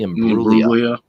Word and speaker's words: Imbruglia: Natalie Imbruglia. Yeah. That's it. Yeah. And that's exactly how you pronounced it. And it had a G in it too. The G is silent.